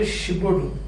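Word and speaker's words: Giraudoux: See how is it written? G-I-R-A-U-D-O-U-X. And it is pronounced the Gibaudou.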